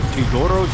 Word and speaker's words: Teodoro: take a walk down tidoro street I asked the kid here truck driver how do you pronounce it and that's what he told me to Doro street it's been a while